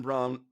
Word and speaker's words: Braun: just come on buddy so Christian Brown Braun God got brown yes but their fault they spelled it that way I know why'd you